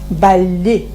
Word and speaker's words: балли: Жилямук Жилямук, и бали, балли. бали. Двойное «л» произносится как одно «л». Балли.